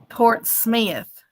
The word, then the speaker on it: Portsmouth: Mr dreadnick he's saying it's spelled Portsmouth but around here it's pronounced Port Smith why don't they just